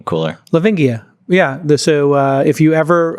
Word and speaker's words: Lavingia: Lavingia is how you pronounce it. Lavingia.